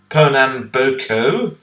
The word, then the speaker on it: Pernambuco: Perambo booco, that's how you pronounce it.